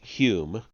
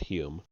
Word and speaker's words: Home: This can be seen clearly in the case of Daniel Douglas Home, pronounced Hume. Okay, H-O-M-E, but it's pronounced Hume. Okay, fine. Daniel Douglas, D-U-N-G-L-A-S. Daniel Douglas Hume, perhaps the most remarkable and convincing medium who has so far appeared.